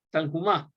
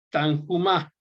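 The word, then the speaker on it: Tanhuma: Y están esas dos colecciones que les mencioné, la Midrash Rabbah y la Midrash Tanhumá, o como la quieran pronunciar, pero con J, una J muy suave, la pronuncian ellos.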